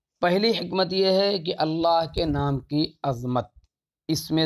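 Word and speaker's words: الله: آنے سے پہلے بھی اللہ کا تلفظ اسی طرح فتحہ اور ضمہ کے بعد تفخیم کے ساتھ، تغلیظ کے ساتھ اور کسرے کے بعد ترقیق کے ساتھ تھا۔ دین اسلام کی آمد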